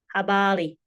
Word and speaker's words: habari: But you may even find people pronouncing habali with an L instead of an R.